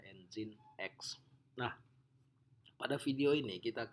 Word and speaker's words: Nginx: Nah, alternatif lain bisa juga kita gunakan Nginx, seperti Nginx, dibacanya Nginx.